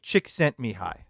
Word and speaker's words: Csikszentmihalyi: on and if I can you can you pronounce the author's name yeah well yes it is me me hi Csikszentmihalyi that's right it's yeah I can never remember